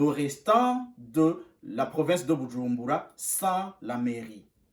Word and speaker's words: Bujumbura: Ça veut dire le restant de la province de Bujumbura sans la mairie. On prononce toujours Bujumbura. Ce n'est pas Bujumbura, non, c'est Bujumbura. En Kirundi, le B est doux.